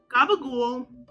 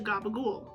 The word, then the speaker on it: gabagool: somehow softened over time the c in or in capicola or in those southern vernaculars becomes a g in gabagul and the p becomes